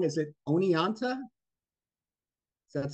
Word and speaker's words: Oneonta: Is it Oneonta? Does that sound right? Yes, that's right. Central Hotel, Oneonta, New York.